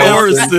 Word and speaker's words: Orison: Yeah, they also say Horizon. Horizon and Orison, right?